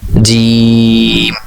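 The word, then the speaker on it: جيم: আপনি তার লেখার গঠনশৈলী দেখে রাখুন, জিমের নিচে এক নক্তা এভাবে মনে রাখুন, উচ্চারণ হবে জিম। আমি আবার উচ্চারণ করছি জিম।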